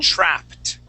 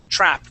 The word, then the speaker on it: trapped: um pronunciation wise uh this word right here trapped trapped that Ed ending has a t sound try that please uh